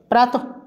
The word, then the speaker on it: প্রাত: প্রাতরাশ, প্রাত, প্রাত উচ্চারণটা এরকমই হবে, প্রাত, পরে ফ্লাকার বিসর্গ, প্রাত যুক্ত আস সমান হবে প্রাতরাশ।